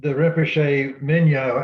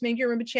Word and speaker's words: Mingyur Rinpoche: On the song, in that the Rinpoche Minya, however you say his name, said an object of meditation.